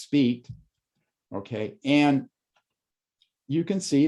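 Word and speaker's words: Spite: 2.3 is called the speed plateau it's named after two french astronomers whose name is spelled s-p-i-t-e and it's pronounced speed okay and you can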